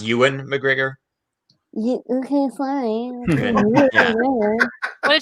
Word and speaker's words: Ewan McGregor: Just so you know, it's pronounced Ewan McGregor.